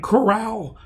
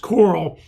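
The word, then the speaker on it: Chorale: Well, the Woodlands Coral looks like corral, but it's pronounced coral, are holding auditions all week long.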